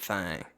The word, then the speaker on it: Thang: about the Alabama white Thang that's correct that is not a Time typo it is not me pronouncing thing funny it is White Fang